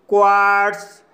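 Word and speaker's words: quartz: जैसे plots, plots शब्द के अंत में टी के बाद जेड आया है इसलिए जेड का उच्चारण सा होगा, इसलिए इसे प्लॉट्स पढ़ा जाएगा। इसी तरह से क्वार्ट्स, सोलोनेट्स, स्प्रिट्स, प्रेट्सल, किलोहर्ट्स, पार्ट्स।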